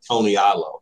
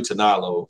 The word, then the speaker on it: Tanalo: Yeah, it looks like Tony Alo. So it's not even, it's not how it's pronounced. But anyway, I knew Tanalo wasn't going to cut it.